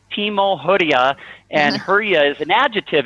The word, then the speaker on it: Hurja: gonna learn some of that that's good you pronounce your family name hura right yes yeah the J everybody else pronounces it herah I always tell everybody if it was spelled